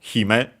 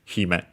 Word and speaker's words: hime: Actually, accent on the first syllable, so hime would be. Yeah, it is. I've heard it also the other way, but yeah, no. Technically, the accent should be on the first one, so hime.